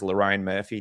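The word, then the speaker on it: Lerone Murphy: Speaking of how people feel, someone paid $10 just to tell me to pronounce Loraine Murphy's name properly. Is that correct, guys? Loraine Murphy, do you guys like that?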